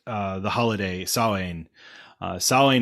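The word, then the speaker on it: Samhain: the holiday salon uh saline is not spelled the way it sounds it is spelled s-a-m-h-a-i-n even though it is said not like that at all so sawing uh it would be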